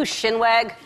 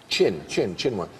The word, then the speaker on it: chinwag: Shinwag. Chinwag. Did I mispronounce it?